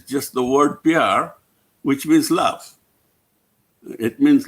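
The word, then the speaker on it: pyar: called pr but spelt a little bit differently it's spelled p-y-a-r and it's not an acronym it's just the word pr which means love it means love in in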